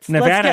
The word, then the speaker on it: Nevada: Okay, so according to the Nevada Independent, I am doing, by the way, Nevada. Let's get you pronouncing it correctly.